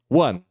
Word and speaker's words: one: nem todas por exemplo essa palavra aqui One começa com o mas começa com esse som aqui E esse primeiro ah essa Prime esse primeiro fonema aqui não é uma vogal que isso quer dizer por